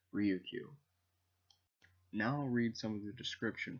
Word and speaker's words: Ryukyu: characters for Lu Chu which in japanese is pronounced ryo q now read some the description from the book